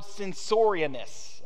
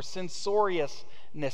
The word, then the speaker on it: censoriousness: have probably heard it it's the word censoriness never heard this before censoriousness see i didn't even know how to say it right censoriousness is the word i don't know that